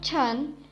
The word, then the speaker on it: chen: Has a pronunciation of chun.